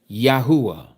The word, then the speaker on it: Yahuah: This is why we know his name is pronounced exactly like we pronounce the tribe. Yahudah Yahuah.